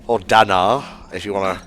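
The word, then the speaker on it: Dannagh: So yeah, this is the Danak Desert. More names? Or Danar, if you want to pronounce it correctly.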